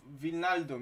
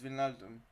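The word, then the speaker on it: Wijnaldum: to get it or vinaldo isn't it it's vineland that's how you pronounce it in dutch um but yeah and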